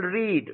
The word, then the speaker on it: read: some simple for example read what is the v2 and v3 of read read it read red red okay these are pronounced these are pronounced differently but their spellings are same okay read red red